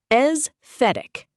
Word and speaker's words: aesthetic: Aesthetic pronounced esthetic.